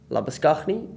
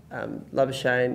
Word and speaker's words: Labuschagne: Like I said, you know, over here they'll pronounce it Labuschagne. But Labuschagne is sort of, you know, what it is.